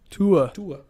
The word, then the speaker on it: Tua: Tua.